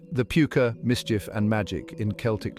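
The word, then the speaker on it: Púca: The Puka, pronounced Puka, is a creature of duality, capable of both great harm and unexpected kindness.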